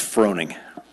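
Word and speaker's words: Froening: sir your last name yeah it's mouthful it's Froning okay how do you spell that f r o e n i n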